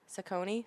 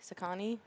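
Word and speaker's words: Saucony: to pronounce this cuz I hear it differently from everyone. Sakonei. Sakani. Whatever. Saki. Saki. I I believe it's Sakin.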